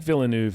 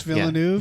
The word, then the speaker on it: Villeneuve: yeah phil i think phil i think villeneuve is correct denise villeneuve yeah i think that's